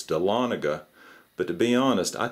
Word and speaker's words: Dahlonega: made in Georgia and I think I mispronounced Ryan's town in an earlier video I said dalla Naga and someone corrected me and said it's Dahlonega but to be honest